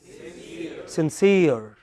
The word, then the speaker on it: sincere: S-I-N-C-E-R-E. What is it? Sincere. Okay, it is not sincere, it is sincere.